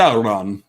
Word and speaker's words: Sauron: I say Sauron because I think about dinosaurs. That's where he drew the S-A-U-R, Saur, you know. But they say Sauron in Lord of the Rings.